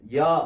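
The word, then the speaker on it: יָהּ: உச்சரிப்பு உங்களுக்கு கொடுக்கிறேன் மத்தபடி நீங்க ஷார்ட்டா என்ன செய்யலாம் யா அப்படின்னு சொல்லி உச்சரிக்கலாம் அல்லது யாகு அப்படின்னு உச்சரிக்கலாம் ஏன்னா யா யாகு இந்த ரெண்டு உச்சரிப்பு வந்து அது உலக அளவுல எல்லாமே தெரிஞ்ச ஒரு உச்சரிப்பு ஓகே அடுத்தது மூணாவது லைன்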